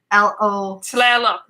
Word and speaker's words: Tlaloc: you see a word, you pronounce every letter. Okay. So it's Tlalo. Tlaloc. Tlaloc. Yeah, you're there. So think of when you say Seattle, how you say both the T and the L even though they're touching.